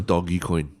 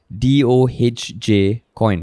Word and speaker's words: Dogecoin: So according to the Wall Street Journal, it's pronounced as DOHJ coin.